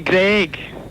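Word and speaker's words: Greig: It's meant to be Greg.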